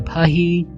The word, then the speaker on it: Paris: called Cocoa in a pahi over 100 years ago. You would say it is in Paris. Yeah, but I just used the French pronunciation.